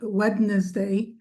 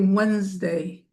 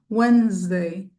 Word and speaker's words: Wednesday: We don't say wedness day. We say Wednesday. Wednesday. You see how I broke it up for you? Wednesday. We don't pronounce that D at all.